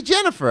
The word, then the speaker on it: Jennifer: There was a girl that went to high school with me, Janafra, but it was spelled Jennifer. So Janafra? No, she Jennifer. I don't care where she's from. Sorry. Janafra. I'm saying it right. You're saying it wrong.